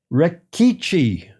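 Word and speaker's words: Rechichi: Elise, I looked this up, how to pronounce this. Yeah. Rikichi.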